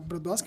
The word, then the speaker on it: Brodowski: a cidade se chama foi aportuguesado né para Brodowski mas a pronúncia é exatamente essa que você falou e em homenagem a